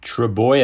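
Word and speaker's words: Trbojevic: then vanilla Blake and trouble which play in first week it's pronounced true boy a no real hooker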